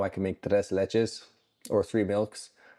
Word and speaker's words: tres leches: We use the Spanish name and we call it tres leches cake or tres leches cake, depending on your pronunciation.